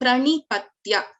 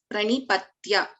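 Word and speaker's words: प्रणिपत्य: Similarly, Pranipatya, it is Pa and Repha R. So Pranipatya, Patya, Ta and Ya. Pranipatya.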